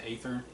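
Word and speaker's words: Aether: third it could be ether but i pronounce it eighther he's a real cool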